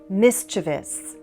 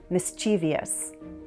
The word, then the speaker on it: mischievous: Kilometer, kilometer, leisure, leisure, mature, mature, measure, major, mischievous. This is the standard pronunciation, but for some reason quite a lot of Americans stick in an extra vowel and say mischievous.